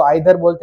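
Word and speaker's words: either: हाँ, प्रोनाउंसिएशन कुछ लोग उसको आइदर बोलते हैं, कुछ लोग इसको ईदर बोलते हैं, दोनों बोल सकते हो, बट आइदर या ईदर, इधर नहीं, हमें इंडियन एक्सेंट यूज नहीं करनी है।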